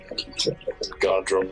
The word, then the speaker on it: Godrum: So that's Godrum. That's 2 syllables. the Godrum. Godrum. Still 2 syllables.